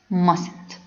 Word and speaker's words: mustn't: must plus not equal mustn't note the first t is not pronounced mustn't four advisability or suggestions